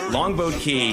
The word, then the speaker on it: Longboat Key: By the way, Longboat Key, uh, you almost never hear the person pronounce the T in the boat part of Longboat Key and so growing up